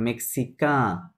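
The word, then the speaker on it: mexicain: আপনার নাজাল সাউন্ড তাহলে কি হবে? মেক্সিকা, একসাথে হবে না? CIN কা, মেক্সিকা, হ্যাঁ।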